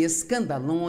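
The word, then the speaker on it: σκάνδαλον: palavra ofensa vem de uma palavra grega pronuncia-se escandalon e é na verdade a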